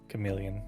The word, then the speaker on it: chameleon: a million billion yeah you say chameleon chameleon you're correct I don't know why